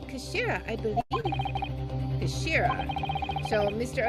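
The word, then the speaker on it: 頭: of the hilt okay it's written as head in Japanese but it's pronounced as Kashira I believe Kira so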